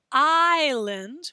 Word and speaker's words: isla: in english we say island we pronounce that like the letter i but not in spanish we gotta remember that